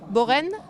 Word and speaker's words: Borin: compagnie de Borin je prononce bien votre nom boraine voilà Ansel sur la jument